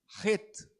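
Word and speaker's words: Chet: O CH, ele tem é o CH do alemão, que tem esse som de um R forte. Então, a pronúncia correta é RET.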